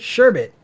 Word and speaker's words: sherbet: pronounce it there's no there's no second r damn it idiot sherbet yeah sherman there's a